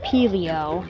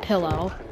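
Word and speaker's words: Pillio: Oh, it's pronounced Peleo, not pillow.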